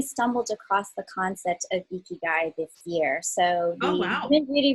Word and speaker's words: ikigai: you pronounced it correctly ikigai is pronounced like with a smile iki and guy and this is a word that actually came out of okinawa and it was the the concept of ikigai was discovered because okinawans